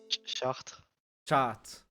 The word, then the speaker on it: Chartres: He's moving to Cartres. Catre. How do you pronounce this, Napoleon? Chartres.